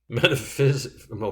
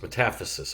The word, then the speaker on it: metaphysis: there is bone marrow metaphysical metaphysis flared portion long bone between diaphysis and epiphyseal plates metaphysis i'm sorry that's how it's pronounced olecranon process is part